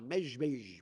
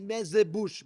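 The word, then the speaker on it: Mezhbizh: Yeah, we can't even pronounce it, but it's a mezbej, mezbej, mezbej. It's not. We say mezebush because we can't say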